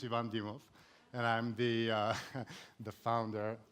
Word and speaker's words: Ivan Dimov: this guy has to work on its pronunciation because that's not my name so my name is Yvonne DeMuth and I'm the the